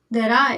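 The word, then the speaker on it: デリー: Delhi but Japanese में इसको क्या पढ़ते हैं दराई दराई एल का क्या हो गया आर दराई डेरी ना पढ़ के दराई इसका एग्जांपल दूं टोक्यो अपन इसको क्या पढ़ते हैं?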